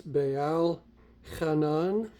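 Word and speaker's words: בעל חנן: And it would be pronounced as Baal Hanan.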